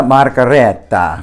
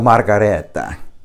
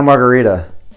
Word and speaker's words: Margherita: had their Pinot Grigio the Santa margareta I think I'm saying it right probably not I mean we all say it you know Santa Margarita because that's you know we're lazy and I get it